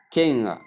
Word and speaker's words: king: Please note the word king has no G attached to it in pronunciation.